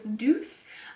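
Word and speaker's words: Doucce: Next, I have something from, I believe someone told me to pronounce this Deuce, the Punk Volumizer Mascara, and let's see, $24.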